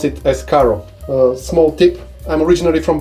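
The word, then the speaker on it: Каро: logo but that's written in CC so you pronounce it as Caro small tip I'm originally from Bulgaria and this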